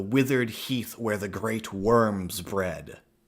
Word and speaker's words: wyrms: heath where the great worms bred. Worms in dragon talk, and it's spelled as dragons, right? WYRMS.